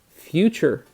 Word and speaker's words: future: Future, again with the 2 syllables. But this last syllable is actually a suffix. Chur is going to be a very common suffix that we're going to see in a lot of different words. Okay, so getting to know